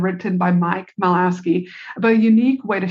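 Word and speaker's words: Michalowicz: Mike I can never say his name right meowski I think m I or melowski m i c h a l o w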